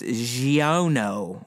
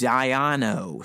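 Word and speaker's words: Xiono: those deals and then his last name is spelled x i oh and oh and that's why I'm saying it's Gio know or just Ayano something like that but either way he's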